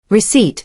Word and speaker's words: receipt: Receipt /receipt/ the P is silent.